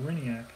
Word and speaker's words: Hriniak: third basemen iron in Hriniak I think that's the catcher that's how you pronounce the catcher's name Hriniak okay so though the